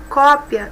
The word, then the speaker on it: cópia: Cópia e copia, uma é substantivo, outra é verbo. Observe que a pronúncia é diferente.